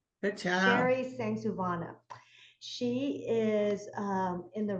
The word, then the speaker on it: Sengsouvanna: to say this um if you read your last name slowly that's how you pronounce it thanks Savannah she is um in